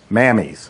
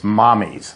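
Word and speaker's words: Mamis: It sounds like it should be Mammies or Mamies. It's Italian for mother. It's mommies. Yeah, he pronounces it mommies. It's pronounced mommies, but you look at it, and I'll pass this around, and you're going to say, oh, it's Mamies or Mammies.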